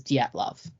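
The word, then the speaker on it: Dyatlov: they they do call they do pronounce it as diet love okay yeah it just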